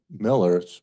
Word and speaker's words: Mueller: His name is Joe Miller, but it's spelled like Mueller, so don't think I'm not saying it right.